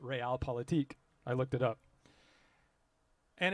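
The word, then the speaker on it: Realpolitik: called real politique uh it looks like real politics but you pronounce it real politique i looked it up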